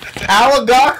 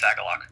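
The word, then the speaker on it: Agalloch: We did Alagok or whatever. Hey, bro, can you tell me how to pronounce that band properly? I believe it's Agalok.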